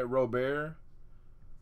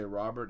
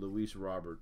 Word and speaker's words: Robert: orange KC Mize hey I've been I've been pronouncing it robear forever but everywhere I looked has said Robert